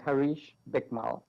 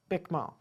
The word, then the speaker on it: Harish Bikmal: Harish Bikmal. Bikmal.